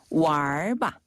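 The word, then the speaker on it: 玩吧: 네, 자, 놀자라는 표현을 중국어로는 왈바. 알바요? 알바랑 비슷해요. 왈바. 한 번 더. 왈바. 네, 왈과 왈부하다 할 때 그 왈 발음이랑 똑같아요. 이게 놀다.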